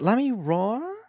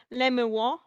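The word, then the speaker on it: Lamiroir: So is it Lamiroa? I've pronounced it. There are many people pronounce it many different ways, but the most consensus I see is Lemuel. Lamiwa. Like that.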